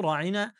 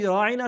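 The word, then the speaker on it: راعنا: কিন্তু এই ইহুদিরা আল্লাহর নবীর শানকে ধূলিসাৎ করার জন্য বা নষ্ট করার জন্য তারা এই রাঈনা শব্দটার আইনটাকে একটু টেনে পড়তেন। তার মানে ইয়া উচ্চারণ করতেন রাঈনা, আরবিতে যার অর্থ দাঁড়ায় আমাদের রাখাল।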